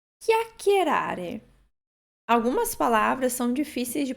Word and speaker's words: chiacchierare: Então, para recordar, CHI em italiano nós pronunciamos chi. Chiacchierare.